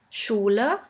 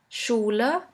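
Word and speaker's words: Schüler: few examples in english you would simply pronounce it like in the word sheep sheep and in german we have the word schuler schuler which means school the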